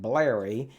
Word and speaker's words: Blerry: cool blurry project and yeah i said it right blari it is kind of a play on words because the berry scripting and tasmota which is